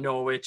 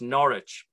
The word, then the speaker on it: Norwich: name spelt it's not norwich it's norwich the w is almost silent and it was the